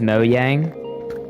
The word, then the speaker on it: Mojang: It would be pronounced Mo Yang. Yeah, but like who's saying that? Like honestly, bro, like I'm saying Mojang, you guys.